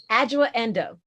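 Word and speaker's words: Adjoa Andoh: Now pronounce the actress's name for me, because I don't want to butcher it. Adjoa Endo.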